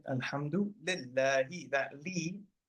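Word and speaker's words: لِ: With a kasra, li. But interestingly, right, alhamdu lillahi, right, alhamdu lillahi, that li, that lam with a kasra, so it's pronounced li, but the letter is called a lam, right?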